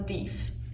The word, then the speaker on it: Deaf: That apparently is how you would pronounce his name. So while he was deaf, his nickname was Deef.